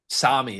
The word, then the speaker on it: Sami: We're gonna be with Evan Meyer, voice of a goddess, and some guy named Sammy with an I. Sami is actually how you pronounce it.